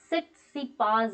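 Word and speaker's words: Tsitsipas: फिर से कह रही हूँ कि 10वां इटालियन ओपन टाइटल जो कि 2021 में हुआ है वो स्टेफनोस सिट्सिपास है, ये टी is silent, refer Nadal, Novak जोकोविच या फिर डोमिनिक थीम।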